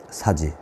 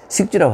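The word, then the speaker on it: 食之: 그리고 집을 들어가서 살게 위서이 사지. 식지라고 하지 않고 사지라고 읽었습니다. 뭐, 동사로 할 때는 사지, 먹여주다 이런 뜻으로. 식은 자기가 먹다 이런 뜻이고.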